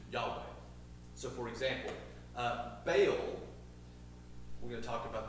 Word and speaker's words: Baal: but in Century America you just sound stupid if you say B all so we're going to call it baale but uh ba was